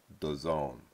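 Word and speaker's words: DAZN: 350 million dollar deal whose technical way they would like you to pronounce it is the zone like we're in the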